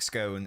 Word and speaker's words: scone: Like scone. It's cone with an S.